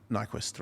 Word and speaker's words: Nyquist: we shout out to ryan knight quench yeah nyquist right quench i said it right why are